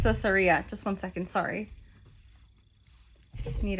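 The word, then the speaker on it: Caesarea: So, it's pronounced Cesaria.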